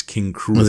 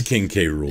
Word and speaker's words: King K. Rool: See, I think it's King Cruel. I understand King Cruel. That's the joke on how it's spelled out. But I call him King. It's King K. Rool.